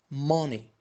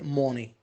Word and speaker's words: money: Money. Don't say money. Ma. Between O and A.